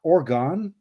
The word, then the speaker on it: Oregon: K note here with 72 says, "Pop, Oregon. Just pronounce it like organ."